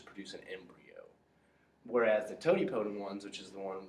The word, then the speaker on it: totipotent: Totipotent.